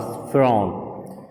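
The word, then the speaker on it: Pharaoh: The king of Egypt was फिरौन। Egypt का राजा फिरौन था। फिरौन के बारे में हम सुन चुके हैं। फिरौन जिसे इंग्लिश में प्रोनाउंस किया जाता है फरो, which mean the सन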